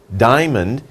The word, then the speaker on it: diamond: has many diamonds diamond diamond is just two sounds diamond don't say diamond no diamond diamond okay so diamonds are